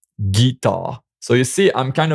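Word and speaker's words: guitare: So, and also you see guitar the it's followed by the e here, but there's a u before the u make it transform the g into a hard g guitar.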